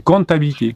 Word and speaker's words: comptabilité: Euh, je dis compatibilité mais je l'ai mal prononcé. C'est comptabil Oui, c'est comptabilité.